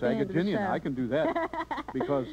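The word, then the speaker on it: Agajanian: And he can pronounce his name, his last name. Oh, it's Agaginian.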